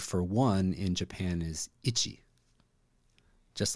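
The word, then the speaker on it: いち: and the word for one in Japan is ity just like oh I'm scratching I'm itchy so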